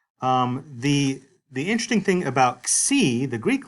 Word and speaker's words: xi: So anyway, that's the letter Xi, capital.